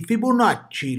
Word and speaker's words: Fibonacci: Yes, pronounce it like that, DIDI, Fibonacci, like an Italian.